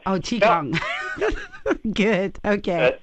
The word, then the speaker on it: Qigong: It's pronounced Qigong. Oh, Qigong. Good. Okay. It's spelled differently depending on how you Romanize the Chinese, but it's always pronounced Qigong.